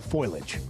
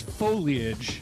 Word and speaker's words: foliage: We're running out of time for the fall foilage. The fall what? Foilage. Okay. Is it foliage or foliage? It's foliage. Foliage. It's three syllables.